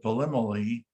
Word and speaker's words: Polymele: And then down below, John, I think you'll appreciate this, is some of the pronunciations. So even though it looks like Polymele, it's called Polymele.